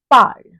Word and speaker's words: parle: of the stem to get PARLE, which is pronounced as parle.